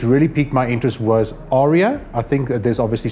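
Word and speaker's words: Aria: only this morning that I learned how to pronounce it correctly but Arya sounds quite accurate so Arya is really an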